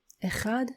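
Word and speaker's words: אחד: It may be a little bit difficult to pronounce because it has this sound and you are probably not used to pronouncing it but try to say it after me.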